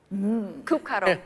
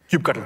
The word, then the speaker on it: kubectl: tool KU cuddle Cub cuddle CU or cube Cube cuttle Cube cuttle show me Cube cuddle I go